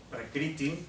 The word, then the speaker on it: Prakriti: Prakriti, esto es un punto debajo de la R, se pronuncia como una vocal.